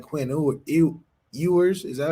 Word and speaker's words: Ewers: But, man, it's so interesting in the quarterback world because a guy like Quinn Ewers, is that how you say it? Yeah. I mean, Ewers.